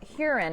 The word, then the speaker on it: Huron: wrong i've been saying here on my entire life but if you ask the locals you pronounce it herein so if you're hearing